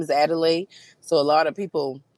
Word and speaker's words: Adelai: Or See if you can write the pronunciation and cuz I want to say it right. My name is Adelay.